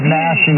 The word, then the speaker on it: gnashing: I thought it was spelled with an N. I thought it was gnashing. Yeah, it's gnashing of teeth.